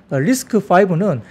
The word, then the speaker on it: RISC-V: 리스크가 아니고 리스크 파네요 리스크 5 리스크 5 C 다시 이제로 해 그게 되는데 그게 5로 읽더라고요가 이제 로마숫자로 이제니까 리스 예 그렇습니다 그래서 리스크 5입니다 리스크 5로 발음 되고요 이게 뭐냐면 축소 명령어